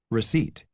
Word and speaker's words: receipt: Receipt. Kept. Psychology. Raspberry. Okay, so we can see that is silent in the word receipt, psychology, raspberry. However, it is not silent in the word kept.